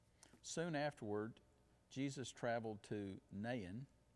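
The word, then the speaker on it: Nain: afterward jesus traveled to nahan it's spelled n-a-i-n pronounced nahin which is about 25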